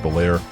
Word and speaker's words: Bel Air: Introducing a true rolling icon, the 1961 Chevrolet Bear, pronounced Belair, a timeless classic with unmistakable vintage appeal and a personality all its own, drenched in a striking turquoise finish.